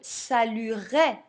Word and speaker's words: saluerai: j'ai rajouté la terminaison bien entendu c'est un e muet quand on parle on dira je saluerai le président d'accord mais on l'écrit je salueai puisque c'est l'infinitif saluer bien je poursuis maintenant